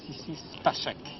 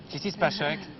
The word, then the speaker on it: Sissy Spacek: Alors, je ne présente pas aux téléspectateurs mademoiselle Sissi Spacek. The good pronunciation? Pretty good. Pretty good. Bon. Sissi Spacek, eh bien, c'est la vedette de Carrie, c'est